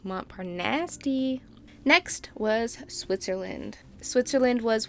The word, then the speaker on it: Montparnasse: That's pronounced Montparnasse. Montparnasse? No. More like Montparnasse.